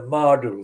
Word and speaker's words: Myrdle: locations based in the Mardule Street and Parfit Street. Mardule is spelled Myrdle, very similar to the spelling of the English word martel.